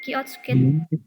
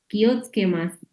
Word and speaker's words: 気をつけます: Kiotsuke Kiyotsukemasu. Kiyotsukemasu. Kiyotsukemasu. Nah, bacanya kayak yo, pakai y kecil aja. Kiyotsukemasu.